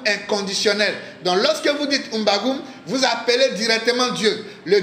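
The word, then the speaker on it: M'bagu'um: Bien-aimés, la signification de ces saints noms sont, lorsque vous prenez Mbagoum, vous pouvez mettre la signification dans les commentaires. Mbagoum s'écrit comme suit. M apostrophe B A G I apostrophe U M. Mbagoum veut dire Dieu.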